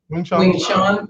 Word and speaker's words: Wing Chun: I studied Wing Chun. How do you say that? Wing Chun.